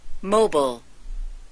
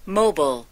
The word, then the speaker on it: mobile: 모일 또는 블 그러죠 mobile mobile mile mobile 예 이렇게 뭐 발음이 이제 두 가지 경우가 있고요 그 역시 무브에서 나왔어요